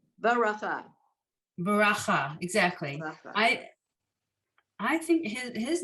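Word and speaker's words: ברכה: Baracha, exactly.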